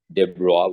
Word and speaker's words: de Broglie: Okay, so that's how you pronounce it, de Broglie wavelength.